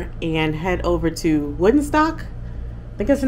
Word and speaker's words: Woonsocket: So earlier in my video, I pronounced it wrong. this little town is called Woonsocket, actually from the French, but you can just say Woonsocket as well.